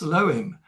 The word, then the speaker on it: Elohim: Nowadays pronounced Elohim, but Elohim is Al, the divine father, and Allah, the divine mother, in a unity of love.